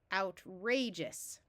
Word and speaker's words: outrageous: the root of Rage note the long a sound here in these ones we had Edge courage Advantage here it has a clear long a sound because the root of Rage has a long a sound we add our suffix